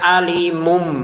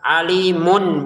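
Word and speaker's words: أليم: Alimun kita bacanya alimum. Kenapa? Karena bertemu ba di sini. Maka dikasih ancang-ancang di sini mim. Maka kita bacanya alimum disertai nanti dengan samarnya bertemu ba alimum bi mumbi gitu ya. Jadi ditahan samarnya biar sempurna. Jangan hanya dibaca alimumb alimumb bi apalagi dibaca jelas alimun bi tambah salah ya.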